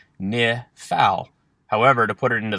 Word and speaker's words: Niphal: so let's get started the pronunciation key for the nifal is exactly as it sounds ni phal however to put it